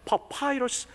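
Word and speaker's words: papyrus: 그래서 NIV 영어성에 보면 이 갈대 상자를 리드 베스킷이라고 하지 않고 파피루스 베스킷, 영어식 발음하면 파파이러스 베스킷이라고 말해주고 있어요.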